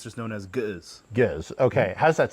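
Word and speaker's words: Ge'ez: Giz, yeah. Giz. Oh, it's like the okay. The silent letter.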